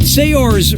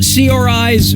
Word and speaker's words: Saoirse: yeah sure you do how do you pronounce her name Saoirse Ronan Saoirse Ronan say yours Ronan or see our eyes Ronan okay